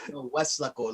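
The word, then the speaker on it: Weslaco: And I'm just Westlaco, like there's no lake. That's just how you pronounce it.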